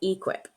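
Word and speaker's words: e-QIP: How Oh, do you pronounce that one? that one is equip.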